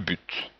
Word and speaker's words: but: On peut dire le but ou le but.